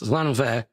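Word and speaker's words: Llanfair: It's Lanfair. It sounds like a footballer clearing his nostrils. That's how you say it.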